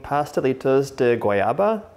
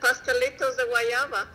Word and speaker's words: pastelitos de guayaba: I wanted you to help me with the pronunciation. So I'm making pastelitos de guayaba. Yeah. How would you say it? You did it. Pastelitos de guayaba.